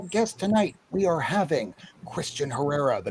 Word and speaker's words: Kristan: i saying it right is it christian yes it is christian just spelled weirdly because my mom wanted me to have trouble in high school so you know the usual stuff thanks mom it's spelled with a k oh it's interesting yeah